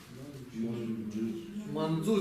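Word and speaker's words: मञ्जु: И мы с вами говорили, что если, если это санскритское слово и пишется вот эти ца, ца и дза, мы читаем их как? Ча, ча и джа. Здесь что это будет? Манджу.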